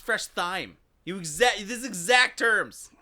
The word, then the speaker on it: Fresh Thyme: store that you called Fresh thy I said th and you're like that's not how you say it no it's fresh thyme you exact there exact